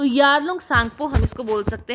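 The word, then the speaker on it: Tsangpo: तो यारलोंग सांगपो हम इसको बोल सकते हैं या तो सांगपो आप बोलना टी साइलेंट होता है यहां तो सांग को हम इसे प्रोनंसिएट करते हैं।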